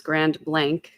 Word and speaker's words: Grand Blanc: way, that it's um, the way to pronounce the town name is Grand Blank.